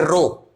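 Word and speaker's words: rho: Constant है जिसको हम इस तरीके से प्रोनाउंस करते हैं रो।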